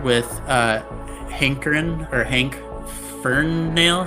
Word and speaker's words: Ferinale: uh hankerin or hank fern nail how do you say that your last name for you know like you're hankering for a nail oh i see um